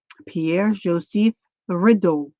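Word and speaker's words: Pierre-Joseph Redouté: Now, I listened to how his name is pronounced. Pierre Joseph Rideau.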